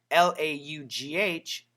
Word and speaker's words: laugh: L A U G H. Laugh. Laugh. That is a short a sound.